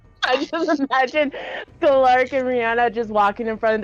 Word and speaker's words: Rhiannon: Wait, how is the name pronounced again? Rhiannon. Rhiannon.